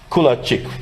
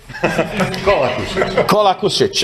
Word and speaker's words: Kolakušić: And another colleague from Croatia, Kulačić, right? Do I pronounce it correct? Right now, not. Kolakušić.